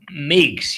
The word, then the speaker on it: Meige: Can you say that one more time or spell it? Meige, M-E-I-G-E. Oh, Meigs.